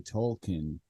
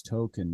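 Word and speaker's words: Tolkien: Stan finds out that his name is actually tolken like jrrr tolken and they just say it like everybody else already knew the whole time and Stan's the only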